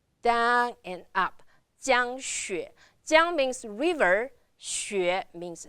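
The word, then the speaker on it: 江雪: Remember the first tone I told you and xue. x u e xue. Third tone, so you're going down and up. Down and up. Jiang Xue.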